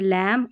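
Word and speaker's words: lamb: MB को म इसलिए पढ़ते हैं क्योंकि B साइलेंट रहता है, जैसे लैम और थम, ये हमने साइलेंट वाले रूल से ना उसमें देख लिया।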